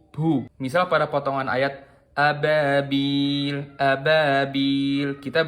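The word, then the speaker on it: أبابيل: Kesalahan yang kedua yaitu kita mengucapin ba tapi kita membacanya seolah-olah kita baca huruf P. Jadi apabil, apabil. Kayak ba. Ini juga salah.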